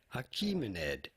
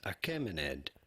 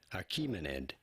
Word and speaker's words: Achaemenid: How do you go about pronouncing it? Achaemenid, it is generally said in English, even though some may pronounce it as Achaemenid. Both pronunciations are fine, but in English it is usually pronounced as Achaemenid.